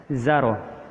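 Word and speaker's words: زار: Maka sisalah zai, alif, dan ro, dan bisa kita pastikan itu bacanya zaro.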